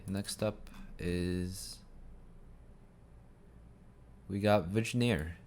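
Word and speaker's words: Vigenère: you can make out like this is a test okay next up is we got vagineer vigenere vignear not sure how to pronounce that it's french so vegnier is a so this string is encoded with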